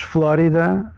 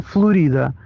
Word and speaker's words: Flórida: As acento agudo no O, porque nós lemos Flórida H. Pronunciamos, pelo menos todas as pessoas que eu conheço pronunciam Flórida e não Florida.